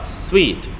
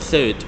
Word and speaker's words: suite: and e okay toilet Trace vacancy to uh sweet do not pronounce the word suit because it's like the type of the rooms